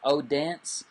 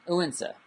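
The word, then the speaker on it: Odense: a drive from Copenhagen to uwin set and uenza is spelled o-d-e-n-s-e so it looks like oh dance but it's pronounced goinza um uinsa so uh anyway the the bottom line is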